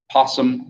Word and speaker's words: opossum: Opossum, I guess it'd be the opposite of that, right? Possum, or the O is silent.